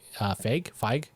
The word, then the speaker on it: Feig: That was created by Paul Feig. Feig. Feig. It's spelled Feig. the same as Kevin Feige, but they pronounce But it without differently. because one has an E at the end.